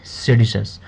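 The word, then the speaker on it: seditious: इसको पढ़ेंगे किस तरीके से, इसको प्रोनाउंस कैसे करेंगे? सेडिशस।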